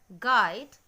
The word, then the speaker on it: guide: So, be careful with the sound of U next time when it comes after the letter G. So, the pronunciation will be guide, guard and tongue.